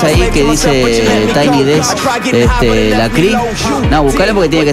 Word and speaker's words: Lecrae: desk de escritorio y la cri es lecrae la presencia se dice la CRI porque obviamente como lo pronuncian, ¿no?